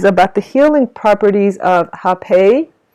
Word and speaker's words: rapé: the healing properties of hepei so hepe is or it's spelled r a p e with an accent so rappea or hepe it is um indigenous